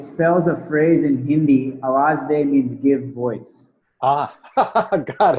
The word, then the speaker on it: awaz.de: You got it pretty much correct. It's Awaz Day.